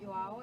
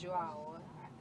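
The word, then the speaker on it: João: So it's not Joao, it's Joao. Am I right?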